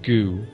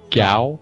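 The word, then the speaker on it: Gau: i liked i really we always called him goo but i think you say his name gao yeah i've always called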